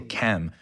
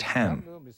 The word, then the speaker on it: Ham: People tend to say Cam, but it should be pronounced Ham, which means black in the sense of a root race.